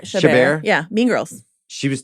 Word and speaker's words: Chabert: Chabert.